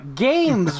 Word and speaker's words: GAEMS: Games Vanguard personal gaming environment. It's spelled GAEMS, and Tim is a filthy liar because it's on sale for $269.99.